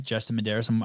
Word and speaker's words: Justin Medeiros: I really like Justin Medeiros, and I say his name right, Justin Medeiros. I think I'm the only person in the CrossFit space that says it right.